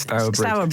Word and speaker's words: Stourbridge: Or Yes, Stourbridge.